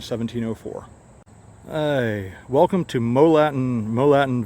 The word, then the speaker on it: Morlatton: he welcome to Molen moltin Village cuz I guess the r is silent in 1701 William Penn